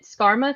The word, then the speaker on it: Skarmoth: Is it Skarmoth? Is that how you say it? yeah, yeah. Spot on.